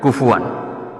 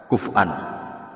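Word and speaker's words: كفوا: Kafaah juga bacanya beliau kufuan, tapi ulama lain baca kuf'an atau kufuan. Itu ada tiga qiraah kufuan, kufu alfatnya beda maknanya sama.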